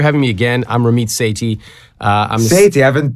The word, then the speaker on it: Sethi: me again I'm RIT Sati uh I'm sa I've been pronouncing it sethy all wrong it's like say the letter T that's the way to say it uh basically basically I'm